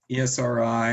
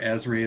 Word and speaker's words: Esri: question okay so then we have um arcmap esri or esri as well a lot of people pronounce that environmental systems research institute these guys